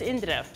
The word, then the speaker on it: Indira: So how you pronounce it is Indira.